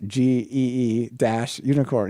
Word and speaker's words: Gunicorn: But if they just put a little MP3, like or even just a word, it's pronounced GEE - unicorn.